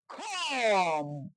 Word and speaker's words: comb: Rules 1, M plus B পরপর থাকলে এবং বি এর পর কোনো ভাওয়েল না থাকলে বি উচ্চারিত হয় না। Example: COMB, খম।